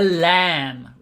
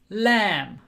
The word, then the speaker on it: lamb: sheep is called a lamb it's l a you don't pronounce the final b it's like thumb lamb baba black sheep have